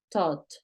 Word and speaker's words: thought: es un verbo irregular cómo lo pronuncias thought tot ese es un verbo irregular thought I thought thought I thought thought porque es una th thought I thought y la gh no suena pilas con los sonidos I